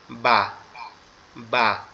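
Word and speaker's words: ب: এখন বাটা তো উচ্চারণ হবে আমাদের দুই ঠোঁট একসাথে লেগে পৃথক হয়ে যাবে, তখন উচ্চারণ হবে বা বা, এভাবে।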